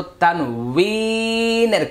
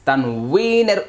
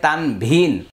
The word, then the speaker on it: তানউইন: আমরা আজকে যেই ক্লাসটি করব তা হলো তানউইনের ক্লাস। তানউইনের উচ্চারণ, তানউইনের ব্যবহার। আমরা বাংলাদেশে যে বইগুলোর মধ্যে লেখা পাই তানভিন, এটা সহি উচ্চারণ হচ্ছে তানউইন।